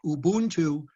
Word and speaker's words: Ubuntu: then of course there is Ubuntu or properly pronounced Ubuntu which is a Linux operating system a free